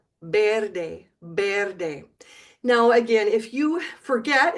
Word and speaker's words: verde: Now the V in Spanish is pronounced always like a B, B. So instead of watch my lips, verde, like in English, you would say verde, verde.